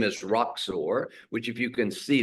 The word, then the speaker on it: Roxor: And then the name is Roxor, which, if you can see this, we say on the rocks, shaken or stirred.